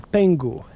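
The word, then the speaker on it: pengő: To what happened to, not the Deutschmark, but Hungarian pengu. It's spelled with it's got a weird spelling, but it's pronounced pengu.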